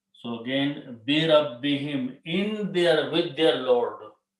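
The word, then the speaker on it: بِرَبِّهِمْ: Now Qari will pronounce this him because it's easy on the tongue. So again, bi rabbihim, in their, with their Lord.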